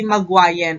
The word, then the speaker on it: Magwayen: So, and this video is, we will be tackling about Magwayan. Ayan. So, there are some spellings na ma-encounter tayo, pero same pronunciation pa rin at siya ay si Magwayan.